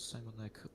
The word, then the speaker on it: Sajmonek: yes, my nickname is Simonek. My name is Shimon. Okay, Uh, brilliant. Yeah. you can mm, make it more English and say Simon.